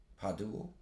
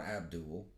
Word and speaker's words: Podul: So, Padul, not Abdul, Padul. Podul, Padul, I don't know how you pronounce these things.